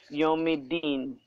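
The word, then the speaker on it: يوم الدين: is silent. It's So silent. we'll say It's like it's not even there. Yawmiddin. Yes, it is not there. We'll just say Yawmiddin. Yomidin.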